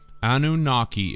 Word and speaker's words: Anunnaki: Anunnaki is phonetically a new naki or a new water spirit that is born into